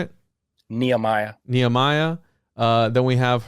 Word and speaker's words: Nehemiah: neemia am I saying that right six Neah Nehemiah how do you say it Nehemiah Nehemiah uh then we have harod and the